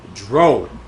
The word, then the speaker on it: Jro: On today's podcast, we got our guy Dro. And for some of you that are asking how Dro is spelled, it's fucking Dro with a J. Because my man don't do the D like that, alright?